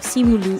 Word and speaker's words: Simu Liu: And also I mean, because, how do you okay, pronounce it? okay. Is it Simu? Simu Liu?